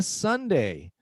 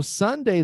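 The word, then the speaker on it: sundae: So you can eat a Sunday. So Sunday, the ice cream is spelled differently, but it's the same pronunciation as Sunday the day.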